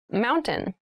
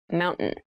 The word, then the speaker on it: mountain: top keep in mind when you pronounce this word in fast speech it sounds like mountain the t sound is reduced the little town was